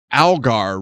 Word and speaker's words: Algar: Your last name's pronounced Algar, right?